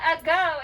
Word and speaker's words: ago: is our thinking syllable we have to think a but we say uh good and i'm going